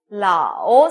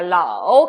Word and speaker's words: 老: 아오, 네, 러 발음에다가 아오가 붙었습니다. 어떻게 읽죠? 라오, 삼성이 붙었으니까 라오 갑니다.